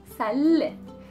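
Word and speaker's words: سلة: Again, the L and the T marboota, then the pronunciation of the T marboota is an E, salle.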